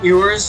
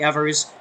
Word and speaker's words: Evers: season and I think I've been saying ERS like it's there's a w in that name for some reason it's actually Evers I've been kind of